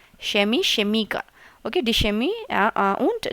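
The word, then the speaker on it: Chemiker: यहां पे जो फ्यूज़िक है और शेमी है इसे शमी कहते हैं। ठीक है? शेमी और शेमीकर शेमीकर प्रोनाउंसिएशन पे भी आप थोड़ा सा ध्यान दीजिए ना। Semi शेमीकर okay?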